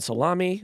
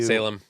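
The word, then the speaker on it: Salame: salami was sentenced to Salem it's Salem it's Salem bellony literally has to put a pronunciation guide in his stories for this name because everyone calls him Ryan salami but it's Salem do you know what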